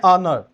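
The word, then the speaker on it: honour: ऑनर, ठीक है। एच तो है लेकिन हम इसको क्या कर लेते हैं? साइलेंट कर लेते हैं, ऑनर, ऑनर, ठीक है।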